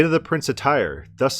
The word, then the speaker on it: Tyre: let's read about the prints of tear or print attire no that's the more scholarly pronunciation of Tyre a set of man say to the Prince of Tyre thus says Lord God